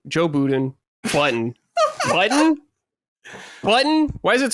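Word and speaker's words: Budden: Button. Button. Button. Why is it spelled B U D N? Joe, but it's pronounced button.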